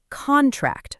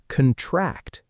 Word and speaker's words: contract: Try these three words out loud. record, object, and contract, first as nouns. Now, say them again as verbs. Record, object, contract. Did you feel the stress move?